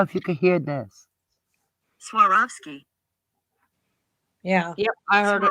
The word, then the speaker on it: Swarovski: But Swarovski. I mean, I don't know if that's technically how you say it. I've heard a guy say it where he's rolling his R's. Swarovski or Swarovski or something.